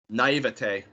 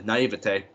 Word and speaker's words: naïveté: Naïveté. Naïveté. Ouais, c'est un mot qui a été récemment introduit en anglais, alors c'est pour ça que ça sonne plus comme le français. Naïveté.